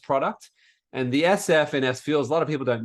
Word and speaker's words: SFuels: Well, it's SFuels, but the SF was from the get-go.